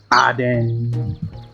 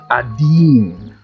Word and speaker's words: Adin: It's like Aden. But it's actually Adin. It's an Arabic name.